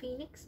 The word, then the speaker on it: Phoenix: mình đọc quá nhá, thì đây đọc là Phoenix má ơi.